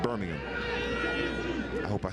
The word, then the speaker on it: Birmingham: By the way, to differentiate between the city in England and the city in Alabama, the city in England is Birmingham. The city in Alabama is Birmingham. Spelled the same, but different accents and stresses. Birmingham and Birmingham.